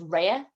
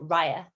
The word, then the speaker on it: Raya: That's something else that I thought it was Raya, but when you watch the film, you hear them pronounce it Raya.